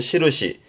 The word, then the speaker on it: 印: 발음은 시르시.